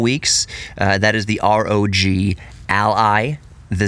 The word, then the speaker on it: ROG: the Rog allies people people keep calling it the rag Ally and it's one of those things like ASUS ASUS how you want to pronounce things the rag Ally I say Rog Ally because Rog stands for Republic of Gamers it's asus's